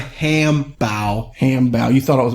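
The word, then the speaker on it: 汉堡: That's because the reason is because hambao is how you say hamburger in Chinese.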